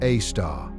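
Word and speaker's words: Sagittarius A*: It was named Sagittarius A, pronounced A star, in 1974.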